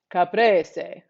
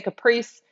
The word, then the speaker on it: caprese: say it italian friends caprese okay let me let me transport myself to italy of course what i'm talking about caprice some people say caprice it's caprese caprese i mean you can